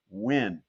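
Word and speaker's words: Nguyen: There was something very appropriate with the pronunciation guide because his name a little bit tricky ng gu uh u yn um but is pronounced quite simply win and that's basically what he did.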